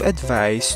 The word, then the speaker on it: advice: Example sentence, I give advice to my students. So binigyan ko ng payo ang aking mga student. And we should pronounce this word as advice. The sound of letter C is S.